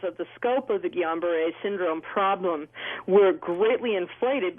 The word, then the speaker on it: Guillain-Barré: Guillain-Barré.